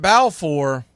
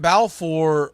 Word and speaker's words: Balfour: Grant Balfour was also an all-star in 2013. But if you're not looking at the screen, you hear me keep saying Balfour, it's spelled as Balfour.